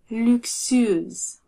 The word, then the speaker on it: luxueuse: Luxueuse. Imaginez que le son X est un K et un S, comme dans le mot luxe. Luxe.